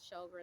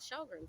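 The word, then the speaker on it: Sjögren: anti- autoimmune syndrome called a autoimmune disease called shoger and syndrome uh which is something very I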